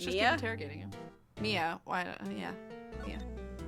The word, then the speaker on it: Mia: Mia. Why? Yeah. Mia. How did you know Maya Fey? Did I say Maya again?